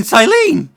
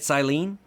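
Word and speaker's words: Cyllene: You may call me Silene. At least I'm pretty sure that's how you say it, Silene.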